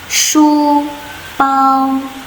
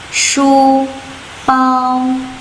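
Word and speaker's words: 书包: Huruf yang ini bacanya adalah pao, pao. Jadi shu ditambah dengan pao menjadi shu pao, shu pao.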